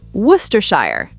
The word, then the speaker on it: Worcestershire: Word number 11, Worcestershire.